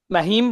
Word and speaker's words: Mahim: So you said your name is Mahim. Am I pronouncing it yet? Right? Yes. Mahim, right?